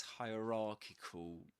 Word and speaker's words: hierarchic: And need to be less hierarchical. Hierarchical. Hierarchical. It's pronounced just like hierarchy, but at the end we changed, instead of saying hierarchy, we say hierarchical.